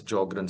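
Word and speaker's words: Sjögren: patient is join syndrome S is silent in these patients so we call it as jogrren syndrome and dry eyes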